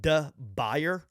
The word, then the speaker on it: de Buyer: if you're in the market for cookware get a diboye which is spelled D e space b-u-y-e-r for the Gringos out there it's da buyer that's how it's spelled go get yourself a